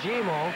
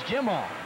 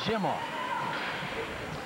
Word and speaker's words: Gimo: Standing in the penalty box still is Colby Gimo. He gives us a pronunciation. It's Jimo. It's not Gimo. It's Jimo. Well, Colby's watching his time tick down now.